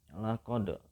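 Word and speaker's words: لَقَدْ: Laqad itu tajwidnya namanya qalqalah, ya. Qalqalah sugro atau qalqalah kecil karena berada di tengah kalimat. Laqad dan bacanya dipantulkan.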